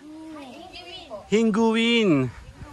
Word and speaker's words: Hinguiwin: How you pronounce it? Hinguin.